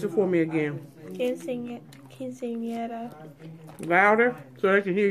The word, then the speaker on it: Quinceañera: Pronounce it for me again. Quinceañera. Louder, so I can hear you. Quinceañera.